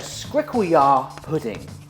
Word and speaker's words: skrikkeljaar poeding: Well folks, that is an African dish called a Skrikkeljaar pudding.